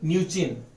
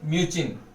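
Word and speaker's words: Mnuchin: Steven न्यूचिन। ये याद रखना, इसमें एम साइलेंट है, वो हमेशा न्यूचिन बोला जाता है, लेकिन वो हमेशा लिखते हैं क्या? एम से, यानी स्टीवन म्यूचिन।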